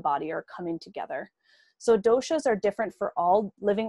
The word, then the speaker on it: dosha: are called the three doshas and for those who are interested in the pronunciation it's dosha not dosa so dosa is an indian fan cake this is not a